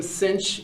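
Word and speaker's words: sinh: the two definitions for I will pronounce them cinch and Kos cinch and Kos uh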